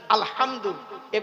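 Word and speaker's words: الحمد: একটু আলহামদুলিল্লাহি রাব্বিল আলামিন আলহামদু এই গলার ভেতর থেকে হেটা উচ্চারণ করবেন আলহামদু আলহামদু মানে হচ্ছে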